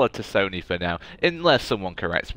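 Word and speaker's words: T'Soni: Wonderful theatrical voice there from Miss Liara Tosoni? Or is it a silent T like they do in South Africa quite a lot? South Africans like the silent T's, so maybe it's just Liara Sony, but I don't know if PlayStation would like that.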